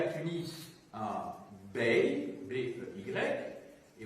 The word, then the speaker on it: bey: Vous aviez à Tunis un bey, B-E-Y, et vous aviez à Alger un dey, D-E-Y, un D, un B, un D. C'est pour être audible que j'ai les prononcé en distinguant donc les voyelles.